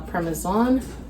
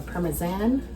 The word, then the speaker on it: parmesan: sharp cheddar along with our permesan or parmesan depending on how you pronounce it.